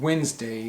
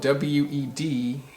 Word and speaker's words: Wednesday: The third example has to do with the word Wednesday, which is the 3rd day of the week, Monday, Tuesday, Wednesday. But it's spelled W-E-D-N-E-S-D-A-Y. So you would think it would be pronounced Wednesday, Wednesday, but it's not.